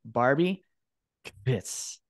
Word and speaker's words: Barbi Kvisz: and join with me today is Barbie this yes love it yes I was able to pronounce it thank you very much Barbie for